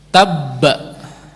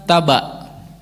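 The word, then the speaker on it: تَبَّ: Tabba. Masuk kepada ba itu ditekan sedikit. Tabba, begitu tidak? Bukan taba.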